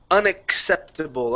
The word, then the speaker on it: unacceptable: All right, let's go to unacceptable. Okay, so we have unaccept. So we have to pronounce that k sound in there, okay?